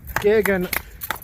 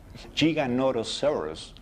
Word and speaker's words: Giganotosaurus: I agree with Andrew, the Giganotosaurus. It's not Gigan.